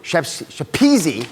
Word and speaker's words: Shapezi: So we invited Rory Shapezi, rhymes with cheesy, I'm told.